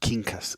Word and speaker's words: Quincas: My name is pronounced Quincas, so oh, excuse me, Quincas.